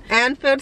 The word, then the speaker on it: Anfield: go to anfield that's how you say it anfield stadium stadium and uh yeah so now we